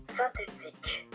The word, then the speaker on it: synthétique: Ici avec un Y, le Y est un I gre. Donc il se prononce comme la lettre I. synthétique puisque la lettre I avec un N, ça fait 1.